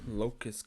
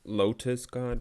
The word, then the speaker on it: Locust God: deck works it's not it's like about to pronounce it as lotus god but it's not lotus it's locus because obviously it's the god not the land so all right reeves